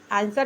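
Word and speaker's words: answer: एस के बाद यानी एस के बाद अगर डब्ल्यू आए तो डब्ल्यू साइलेंट होगा। आंसर में दिया है जैसे ए एन एस डब्ल्यू ई आर आंसर नहीं पढ़ा जाएगा। कहीं-कहीं सूत उच्चारण नहीं करके लोग क्या पढ़े थे? आंसर पढ़ देते हैं। आंसर पढ़ देते हैं जो गलत है।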